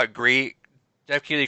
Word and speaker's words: Gris: pronounced Bree. Yeah, I know. think Jeff The Keighley, whatever he said. developers call it Gree.